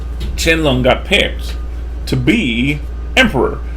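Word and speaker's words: Qianlong: a thing I say the way you kind of pronounce it is chin lung not Quang long right it's more like chinlung so this is the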